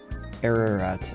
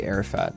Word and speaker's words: Ararat: Ararat. I keep wanting to say Arafat, like the PLA leader.